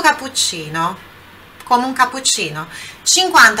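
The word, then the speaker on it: cappuccino: do início aqui vou capuccino capuccino Olha também aqui falando sobre pronúncia pronúncia do CC aqui como são dois é um só um pouquinho mais forte levemente mais sorte que tivessem um só é ser diferença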